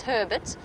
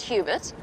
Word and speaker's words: Hubert: it's Hubert it's it's Herbert Herbert not Hubert obviously that's that's how he wants us to pronounce it it's slight it's spelled slightly different but he wants it pronounced Herbert well that's how he